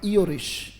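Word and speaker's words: Irish: भी पढ़ा जाता है पर इसका सही उच्चारण क्या होगा इरेश राइट आयरिश भी पढ़ा जाता है वो अमेरिकन साउंड है बट ब्रिटिश इसका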